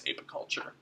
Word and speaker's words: apiculture: people but per night the per if correct pronunciation is apiculture and most commonly the B's that people are